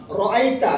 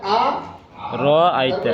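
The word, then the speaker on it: أرأيت: আর আতাল্লাজি শব্দটা হলো আ মানে কি আ রাইতা এটা একটা শব্দ আপনাদের কাছে কোরআন আছে না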